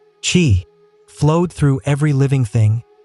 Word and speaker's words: qi: The invisible life force called qi, pronounced qi, flowed through every living thing, and the key